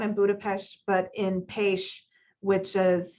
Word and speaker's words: Pécs: And so the WHO has a regional office, not in Budapest, but in Pécs, which is spelled P-E-C-S, which is a beautiful place.